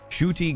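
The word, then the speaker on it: Ncuti: Uh, pronounced Chy. Thank you very much. Shuty Gatwa.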